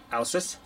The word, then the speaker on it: Ausus: I took Latin in high school many moons ago. If I'm not mistaken, this is pronounced Ausus, and they give you a little definition there on the box.